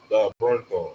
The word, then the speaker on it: Bernthal: Bernthal.